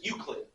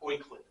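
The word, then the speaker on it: Euclid: ukan geometry oddly enough his name is uid not oid this allows us to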